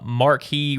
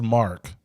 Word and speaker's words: Marque: a lot about him until later but uh Marquee Richardson playing Mao because that's just mark Marquee it's it's spelled Marquee but Mark Richardson Marquee Marquis would